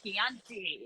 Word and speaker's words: Chianti: and be like Chianti do you have any Chianti it's it's pronounced Chianti do you have any Chianti Alyssa